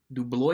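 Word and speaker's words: DeBlois: it is directed by Dean doo du Bois do blow de Blois do blow yes I'm sorry I mispronounced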